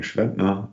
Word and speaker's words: Schwedner: see here and so if you want to pronounce my family name um it's an it's an austrian name think schwarzenegger and then you know how to pronounce that and i work um